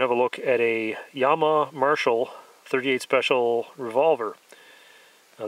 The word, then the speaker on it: Llama: partially underneath the grips I've heard most people around here call this a llama but I believe the correct pronunciation is Yama these are a little